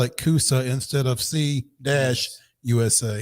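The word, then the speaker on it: C-USA: It's now and so we've been saying Coosa all along anyway. Correct. But now you spell it Coosa instead of C-U-S-A.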